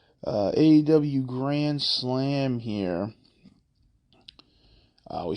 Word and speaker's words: AEW: into with with aew you gotta say it like how MGM said it uh aw Grand Slam here uh